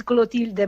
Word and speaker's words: Clotilde: you come from first okay my name is gulo Tilda mom most of the people who called me